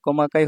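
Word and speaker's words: 細かい: মানে চিকন আবার এই কাঞ্জিটাকে কোমাকায় বলা হয় কমাকাই হচ্ছে সূক্ষ মিহি খুচরা আবার ছোট বলা যায়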